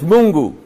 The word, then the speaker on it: Mungu: yasu okay um I know how God is pronounced it's mungu okay so if I say mungu and I'm